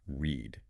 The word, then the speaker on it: read: And my absolute favorite trickster word is read. Spelled exactly the same in the past tense, r e a d, but pronounced completely differently, like the color red.